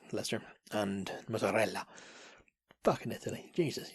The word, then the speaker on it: Leicester: It's spelled Leicester, but I think it's Leicester, and mozzarella.